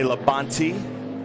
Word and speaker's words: Labonte: been labonnie yeah Bobby Labonte Bobby Labonte you say Labonte we're a NASCAR country I gotta try to make three syllables one syllable ain't no T's right yeah okay then